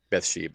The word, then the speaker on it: Bathsheba: Bathsheba.